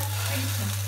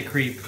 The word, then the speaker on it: crêpe: Il y a quoi de crêpe? Crêpe. Non, il n'a pas dit ça comme ça. Crêpe. What? Crêpe. Crêpe. Ouais. How do you say? Crêpe. Crepe. You don't want to say creep.